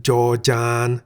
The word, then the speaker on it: จ จาน: The Thai consonant Jaw-Jan sounds like a J at the beginning of a syllable. Jaw. At the end of a syllable, Jaw-Jan sounds like a T.